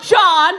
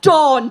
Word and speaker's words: Dawn: that again my name is it's not John it's not dawn it's dawn da WN that's it dawn end off okay yeah it's just after that